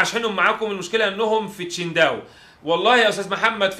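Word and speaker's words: Qingdao: مشكله اشحنهم لك من تشينداو عادي، بالمناسبه اسمها تشينداو لكن عندنا في مصر بينطقوها كينج داو، وهي مش كده خالص.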